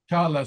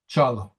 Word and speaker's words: Çağla: Shajla? Çağla. Çağla. Chala. So the G is not pronounced. It's Yes, silent. yes, it's silent, and the first letter is ç. Chala.